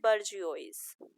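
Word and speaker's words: bourgeois: पहला जो एक पार्ट है या टाइप है इसका उसको हम बोलते हैं बर्जियोस।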